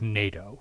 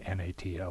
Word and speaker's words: NATO: with um words like nato right we don't we don't say n-a-t-o we say nato for north atlantic treaty